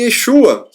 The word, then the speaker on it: Yeshua: diferente a pronúncia do nome mudou não é pronunciado mais comia roxo Ah mas sim Yeshua Deu para entender a mesma pessoa é o